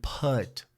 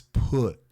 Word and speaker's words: put: Be careful here because the pronunciation, especially if you're Brazilian, you will tend to say put, but it's not. It's put.